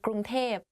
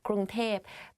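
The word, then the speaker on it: กรุงเทพ: people talk about Bangkok, they will say ก ร ุ ง เ ท พ because like conversation wise it's easier to pronounce like that ก ร ุ ง เ ท พ but a longer name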